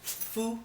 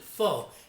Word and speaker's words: pho: But tonight I'm going to be making Vietnamese Pho Bo. Now here in the States a lot of people pronounce it pho, and that's not how it's pronounced. It's pho or pho, and it's the food of the people in Vietnam.